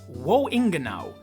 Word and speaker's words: Woingenau: German did get the message though, and named Wobbuffet Wohingenau, which said out loud sounds exactly the same as Wohingenau, which means where to exactly.